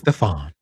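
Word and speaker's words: Stéphane: It looks like that's supposed to be Stephanie, but no, I'm sure that's pronounced Stefan.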